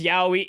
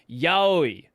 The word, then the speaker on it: yaoi: Right, the way pronouncing it as yaoi is not correct. It is yaoi, right?